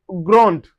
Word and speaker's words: grande: In masculine we say grand. Grand. The D is not pronounced, but once you have the E that is followed, we can say grande, which signify feminine. Grande.